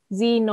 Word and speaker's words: zine: So someone's asked, I think they're asking how to kind of pronounce zine or zine. Zine, like as in MAGA, zine.